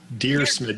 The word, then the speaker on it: Dyrsmid: Dyrsmid, just like you're writing a letter to a guy named Smid.